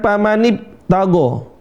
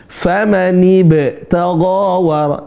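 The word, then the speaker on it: فمن ابتغى: Teman-teman sering baca kayak P, bukan kayak B yang sebenarnya yang benar adalah B. B yang mantul. Pamanib. B. Bukan P, pamanib tago. Itu sering kali ini. Cara bacanya pamanib tago, bukan pamanib tago. Ya, yang benar apa? Famanib tago, kayak B yang mantul.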